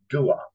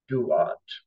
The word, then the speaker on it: Thuột: Viet Thanh Nguyen was born in March of 1971 in Ban Mê Thuột, or Duat, spelled T-H-U-O-T, Duat, a small village in the north of Vietnam.